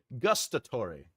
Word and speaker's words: gustatory: How do you say gustorori? Gustorori. Gustatory. Gustatory. Gustatory imagery, primarily used in scenes involving food or drink.